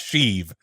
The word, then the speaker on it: Sheev: Replace the T with an H in Steve. I mean, that's true. I mean, the spelling's different. I know, don't at me, but yeah, it's pronounced Sheev.